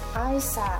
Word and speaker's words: Eissa: Religion was very important to the couple, and they named their baby son Eissa, pronounced Eissa, which is the Arabic name for Jesus.